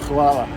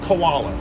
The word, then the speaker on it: hvala: Hvala. Abdallah? Hvala. Kavala. Hvala. Not koala. No, hvala. How do you spell it?